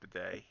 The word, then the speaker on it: bidet: spelled it right pronounced it's french word pronounced the day I always say bit it I actually have one